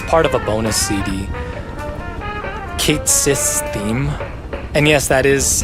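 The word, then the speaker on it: Cait Sith: Kate Cis theme. And yes, that is how it is pronounced according to Rebirth.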